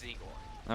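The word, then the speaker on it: Zigur: But the country my family is from originally pronounces the language is like, instead of like the U sound, it's like an O sound, so it's Zegor.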